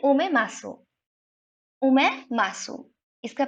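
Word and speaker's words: omasum: ओमे मासूम, इसका प्रोनाउंसिएशन में थोड़ा ध्यान रखिएगा, ओमे मासूम इसको बोलते हैं।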